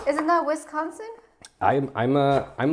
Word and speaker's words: Wisconsin: you mean West sconsin n like what like westconsin is that how it's spelled isn't that Wisconsin I am I'm a I'm like a Wisconsin